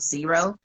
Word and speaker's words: Xero: of women that use Zero and they prefer it over QuickBooks. And it's spelled Zero. I'm sorry, Xero.